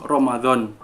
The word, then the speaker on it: Ramadan: Di dalam bahasa Arab itu kan dibacanya kan Ramadan. Nah, di dalam bahasa Indonesia ditransliterasikanlah menjadi Ramadan. Jadi tidak menggunakan huruf DH, jadi langsung ditembak aja jadi Ramadan, nggak ada hanya di tengah-tengahnya gitu sedulur.